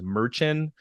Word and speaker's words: Merchan: believe his name is Merchant and it may be mispronouncing that it's basically Merchant without the T at the end I had to write